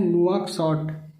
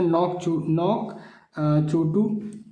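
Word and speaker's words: नुआकशॉट: नुआकसॉट या नौक चोटू। ठीक है, या नुआकसॉट, एक ही नाम है, अंग्रेजी के हिसाब से अलग अलग प्रोनाउंसिएशन हो जाता है।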